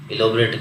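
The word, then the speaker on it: elaborate: एलोबरेट का मतलब होता है विस्तार से बताना, इलोबरेट करना। प्रोनाउंसिएशन इसका इलेबरेट।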